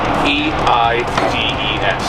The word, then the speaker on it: Eide's: E-I-D-E-S. Yeah, it doesn't look like it's pronounced the way that it's spelled, but yeah, it's Eide's.